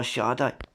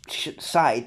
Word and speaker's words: Sade: Frankie's First Affair by Sade. It's spelt Sade. I thought that she was called a singer called Sade, but it's actually the band named after her called Sade, but it's pronounced as Sade.